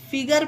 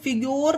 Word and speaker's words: figure: उसी तरह से इसे फिगर पढ़ेंगे। अब इसे URE लास्ट में है, पर गाइस इसे फिग्योर नहीं पढ़ेंगे, ये पढ़ना गलत होगा।